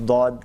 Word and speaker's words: ضاد: حرف استعمال ہوتا ہے، لیکن تلفظ جو اس کا ہے وہ صرف عربی زبان میں فقط عربی زبان میں ہے۔ کسی دوسری زبان میں